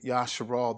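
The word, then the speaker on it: ישראל: But when I say Yasharal, that's Israel. That's just the Hebrew pronunciation of Israel. It's Yasharal.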